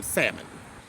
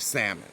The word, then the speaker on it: salmon: so let's have some salmon why can't we take the silent l out of salmon why like i like